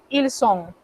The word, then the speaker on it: ils sont: Pero cuando es plural, decimos ils sont, elles sont. Ven que de nuevo se encuentran dos S. A la hora de pronunciar, se pronuncia una sola.